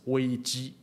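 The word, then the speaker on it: 危机: the word you know crisis in Chinese is pronounced as Ouija in fact they are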